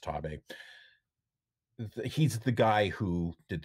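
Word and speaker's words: Xtabay: If you've ever heard of Ima Sumac, a singer, her most famous album, Voice of the Taboo, which is spelled X-T-A-B-A-E-Y, but pronounced Taboo.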